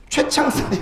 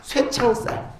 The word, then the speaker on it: 쇠창살: 출제 핵심 포인트 밑에 윤일섭에게 최창살이 아니라 쇠창살. 미안. 발음도 힘들어. 잠깐만. 쇠창살. 맞지?